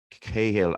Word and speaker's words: Cahill: you're irish yes and it's that pronunciation that the english use cahill and i think i